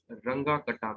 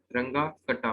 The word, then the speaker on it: Runge-Kutta: रंगा कटा मेथड। ठीक है, तो ये प्रोनाउंसिएशन जर्मन है तो एज इट इज इसको प्रोनाउंस करना है, रंगा कटा मेथड।